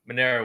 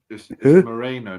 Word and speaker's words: Moreno: personally think that um Monero won that Moreno not Monero Moreno Monero [ __